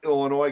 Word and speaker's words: Illinois: you uh not pronounce Illinois correctly no I just do that to annoy you I have it ingrained in my head my third grade teacher there is no noise in Illinois see yeah there's a